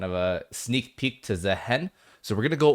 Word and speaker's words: Zaahen: All right, starting off here we have Nefuri versus Zahen. Uh yes, it is pronounced Zahen. We do have confirmation by Riot that it is Zahen.